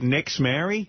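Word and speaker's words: Nixzmary: they named the kid Nixmary. N-I-X-Z. Nixmary. Is that true? Yeah. Is that how you say it? Nixmary? Yeah.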